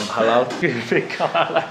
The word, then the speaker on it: halal: Halal. Halal. It's L, it's not R. Halal.